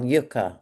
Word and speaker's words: Yuka: Well yuka I don't know how you pronounce it.